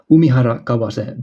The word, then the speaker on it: Umihara Kawase: Like, learn to pronounce these titles, please. Umihara Kawase Bazooka.